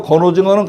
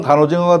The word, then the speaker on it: 간오징어: 이거를 말린다라는 의미로 쓸 적에는 얘가 발음이 간이 됩니다. 말린다라는 의미로 쓰일 때는. 그러니까 결국 저 건오징어는 간오징어가 돼야 맞는 거예요.